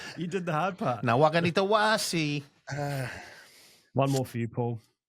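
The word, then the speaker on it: Nawaqanitawase: Nawakanitawasi.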